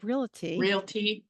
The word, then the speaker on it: Realty: Realty. Oh my Lord. Everybody wants to put an extra A in there.